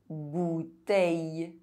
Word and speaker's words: bouteille: EIL and EILL are pronounced A. Soleil. Conseil. Abeille. Bouteille.